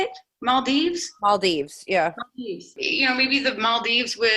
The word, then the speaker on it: Maldives: Maldives, yeah.